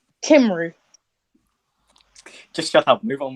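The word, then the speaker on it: Cymru: mean obviously Shane the kymer chief can back up where Wally liked I hate that nickname I hate that so much no I'll embrace it when you can actually pronounce the word correctly kimru just shut up move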